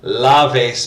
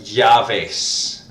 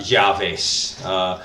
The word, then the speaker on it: llaves: bit of Asia yeah javis so it's kind of a cross between a jaw and a yeah so jaw face alright really it's it's the Y sound with a lot of emphasis javis okay so you'll